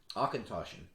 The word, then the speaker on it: Auchentoshan: we move on one of the most often mispronounced distilleries akintoshin distillery is less than two hours from kelvin